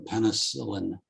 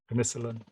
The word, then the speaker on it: penicillin: And also, one time, my lovely wife Karen, being British, I used the word as an American, penicillin. She goes, no, it's penicillin. Penicillin.